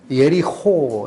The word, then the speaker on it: 여리고: 계신 곳 여리고는 뭘까 여리고 라는 단어가 히브리어로 예리 호 이렇게 발음이 되요 허 발음이 이 목조 손 올리고 나오는 발음이나 4 우리나라 사람은 발음하기 힘들어 해서 그냥 고 라고 표현하는데 코 이렇게 편한데 원래 열이 허허 예요 근데 그 단어가